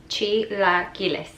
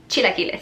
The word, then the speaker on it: chilaquiles: every brunch and you never know how to pronounce it. That's right, chilaquiles. Say it with me, chilaquiles. Chilaquiles.